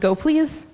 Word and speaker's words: gopls: on the community's needs and yes it is pronounced to go please even though it looks like it says go